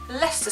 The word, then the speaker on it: Leicester: I'm feeling really proud that I can say leester square and laugh at other German tourists who do not know how to pronounce it so the next one just says